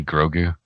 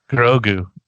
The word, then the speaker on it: Grogu: his name how do you say it hey grogu grogu it's probably go guru and i keep saying